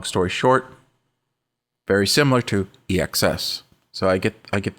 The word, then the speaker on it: EXS: put it in my ESX did I say it right EXs there we go I say ESX sometimes but but it's EXs and the reason why